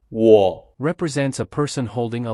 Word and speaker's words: 我: （我有一個姊姊，兩個弟弟。你呢？） In this sentence, the character '我' (wǒ) represents a person holding a long weapon to protect themselves. To remember the pronunciation of '我,' you can associate it with the first syllable of the word 'woman.'